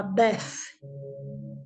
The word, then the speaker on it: bet: Essa é a letra que se escreve bet, mas no original se fala bef.